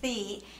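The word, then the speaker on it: Thy: a very interesting name it looks like t-h-y but it's pronounced thee and she told us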